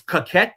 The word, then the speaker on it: Cocquyt: Okay, it's Coquette is how he says it, but it's spelled Cocquyt.